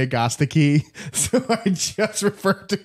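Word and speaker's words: Agastache: wouldn't fair so yeah technically it's Augusta key and so once no thanks once I found out that that was the correct pronunciation I just call it hyssop now I stopped saying like a statue and I'm not gonna say Augusta key so I just refer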